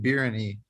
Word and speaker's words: biryani: You gotta try some good biryani, Chris. Oh, what is it? Biryani. Oh, It's a type of rice. Biryani? Yeah. How do you spell it? Biryani. You might like it. BIR. Say it again. YANI.